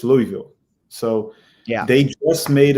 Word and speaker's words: Louisville: city fc i said it right right it's louisville so yeah they just made an official announcement